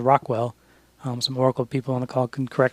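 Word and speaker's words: ROQL: have a query language it's actually pronounced Rockwell um some Oracle people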